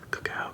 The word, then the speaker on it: cacao: Cacao, cacao, cacao, cacao, cacao. It sounds like wapow, but with the cow.